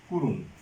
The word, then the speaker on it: করুণ: এটার উচ্চারণ হবে করুণ, উচ্চারণ হবে করুণ। অর্থাৎ এখানে অ এর পরে এই রস্য ধ্বনি আছে, এই রস্য ধ্বনি থাকার কারণে অটা পরিবর্তিত হয়ে সেটা ওতে পরিণত হয়েছে।